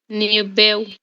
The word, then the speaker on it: nível: Onde é que está o nosso acento gráfico? Está no ni, certo? Então é essa sílaba que é a nossa sílaba tônica.